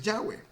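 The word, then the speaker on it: Yahweh: de yagüe jude hey cuya pronunciación es yagüe y fíjate qué interesante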